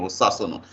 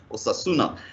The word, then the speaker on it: Osasona: pronounce my son name or sasona some we pronounce it in the name of the football club in spain or sasuna so i just decided